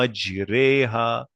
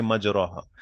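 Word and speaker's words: مجراها: आपको यहां पर इसको प्रोनाउंसिएशन में भी तजवीद के अंदर भी इसको वैसे अदा करना है कि स्लंट करना है अपनी आवाज को यहां पे टंग को। मजरेहा यू डोंट से मजराहा मजरेहा।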